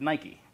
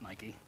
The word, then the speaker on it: Nike: considering the fact that I know I mispronounced that word when I was learning how to read, right? Because that's not Nike. I'm not Greek, so it's not Nike.